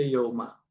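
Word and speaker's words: ܝܘܡܐ: Kalau orang serto biasanya bunyinya diong. Nah, kalau dari madenah haya itu dibaca yauma ya gt ya.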